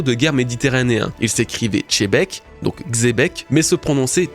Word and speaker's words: Xebec: commentaires avec ça, oui, je nomme Chebek et non Xebec. Plus j'en parle, plus on me fait la remarque que je le prononce pas de la bonne façon.